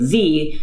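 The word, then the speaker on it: xe: begins with x and the pronoun that begins with z are pronounced z zim zer and then of course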